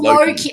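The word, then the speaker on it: Lachie: Locky. How do you pronounce this? It's like It's like saying low key, but you say it quicker. Oh, Loki.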